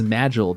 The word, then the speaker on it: Magil: The shadow magician, Magel, a strong and silent mage who I will be pronouncing as Magel because if I say anything too close to Maggle, it's going to become Jon clock up in here.